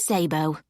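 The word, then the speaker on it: Szabo: Elma Zabbo. That's spelled S Z A B O.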